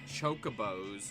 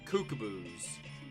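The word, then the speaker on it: Chocobo: used to call the Chocos which that's apparently how you say it I used to call them Cuckoos and I still prefer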